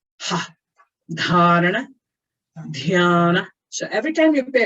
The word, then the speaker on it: dhyana: In Sanskrit, wherever you see an H, that means it accompanies the consonant and it's an aspirate. Aspirate means the sound of the breath. Ha. Dharana. Dhyana.